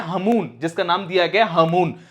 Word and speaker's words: Hamoon: लेकिन ये जो तूफान है तेज के कंपैरिजन में हमून जो तूफान बताया गया, जिसकी स्पेलिंग है HAMOON, इसकी फिर भी जो पॉसिबिलिटीज